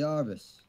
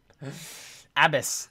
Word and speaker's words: Abbess: The Arbus. Or why does everybody keep mispronouncing that? Abbess. It's not that hard.